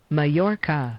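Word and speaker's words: Mallorca: say my more or less let me actually pronounce mayorca mayorca mayor May it's like uh this commonly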